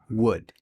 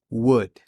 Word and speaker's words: would: saber cómo se pronuncia para pronunciarlo solo Vamos a utilizar la W la u y la d es decir would repite would otra vez W muy bien ese es el primer paso saber que se pronuncia solamente W Ni la o ni la l se pronuncian una de las formas